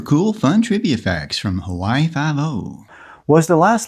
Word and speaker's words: Hawaii Five-O: Regardless, it's still pronounced Hawaii Five-O.